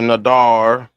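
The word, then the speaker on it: נדר: So that is this country white man's pronunciation. Mhm. I would say Nadar cuz if you look over here on the pronunciation on 5087 that's exactly what it says.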